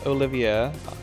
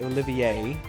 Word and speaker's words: Olivier: And oh yeah, so his name is not Olivier. I've actually been informed that it is pronounced Olivier.